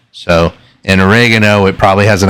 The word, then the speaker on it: oregano: So in oregano, it probably has an accent on the second e.